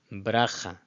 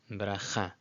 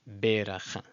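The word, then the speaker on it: בְּרָכָה: And Bracha, Bracha, not Beracha.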